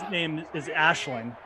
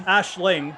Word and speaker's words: Aisling: And one of them is Aisling. Like Ash. Ashlyn, you mean? Aisling, like L-I-N-G, but it's spelled A-I-S-L-N-G. So everybody calls her Aisling.